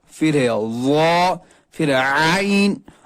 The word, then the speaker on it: عین: ہے وا، پھر ہے عین، عین کو وسط حلق یعنی حلق کے درمیانی حصے سے پڑھنا ہے. کچھ لوگ پڑھتے ہیں آئین، آئین نہیں ہے، یہ آئین ہے.